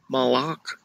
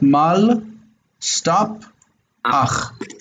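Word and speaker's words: מלאך: Malach. Okay, you need to stop after the lamed. So it's not malach, but mal, stop, ach. Malach.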